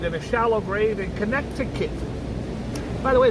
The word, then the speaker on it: Connecticut: Earlier this year was found buried in a shallow grave in Connecticut. By the way, it's called Connecticut, but there's a C in the middle.